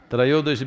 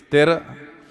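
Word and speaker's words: त्रयोदशी: North Indian people must connect, don't go on clipping away one syllable and come, Dhanavantari becomes Dhan, Trayodashi becomes Tera. Don't keep clipping it away.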